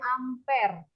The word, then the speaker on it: ampere: Ampar didn't pengen Lentera Bacanya jangan kaya orang Batak kali ya bacanya ampere gitu ya piring ampere kere